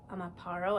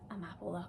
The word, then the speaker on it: Amapola: I always say Amaparo. I think that's what I said in my last one. Amapola cardigan.